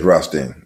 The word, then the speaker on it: Rothstein: Is that how his name is pronounced? Yes, Rothstein.